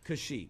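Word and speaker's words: Kashyyyk: really you said ho that's it's actually called kashik kashik that's correct yes I we we are all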